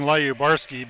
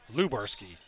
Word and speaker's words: Lubarski: And I'm going to keep saying Lyabarski because I was only corrected that his last name is pronounced differently yesterday. So I've been mispronouncing it all season. It's Lubarski. Lubarski. Lubarski.